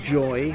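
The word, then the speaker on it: YoY: Well, okay, technically it's pronounced joy, but like, I refuse to call it joy because it's spelled Why oh why?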